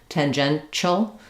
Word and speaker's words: tangential: some cases um but in the dictionary you'll see it's it's the this symbol for the sh sound and not this symbol for the T the CH sound tangential excuse me great question